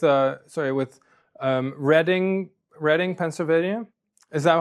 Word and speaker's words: Reading: Well, are you familiar with uh with uh sorry with um reading reading Pennsylvania? Is that how you pronounce it?